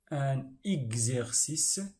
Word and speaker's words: exercice: La lettre X se prononce gz. Un exemple, un exercice, l'heure exacte.